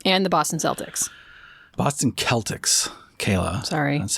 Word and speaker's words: Celtics: are they weird and the Boston Celtics Boston Celtics Kayla sorry that's how you pronounce it correctly I'm I a game